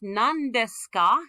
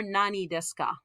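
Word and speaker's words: 何ですか: That ni is going to collapse to the liquid sound n. This is a whole syllable. So when you want to ask nan desu ka, it's never nani desu ka.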